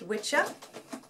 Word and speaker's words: Wicca: the old word which it's supposed to be pronounced which up but he decided to call it Wicca that's Barnabas just scratching on this silly man